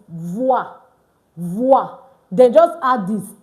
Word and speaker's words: voix: OY and OI is pronounced wa. So VOY is voix.